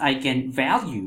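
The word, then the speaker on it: eigenvalue: way this is pronounced I can value because it is a german word the way we pronounce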